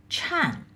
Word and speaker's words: Chan: also known as sen this is a japanese pronunciation in china it is pronounced as chan the purpose of practicing chan is to obtain enlightenment